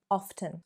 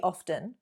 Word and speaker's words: often: It shouldn't be often. Google it. Check it if you don't believe me. It's an alternative pronunciation and nothing wrong with it, really. I just prefer to pronounce my T's, and I'm not changing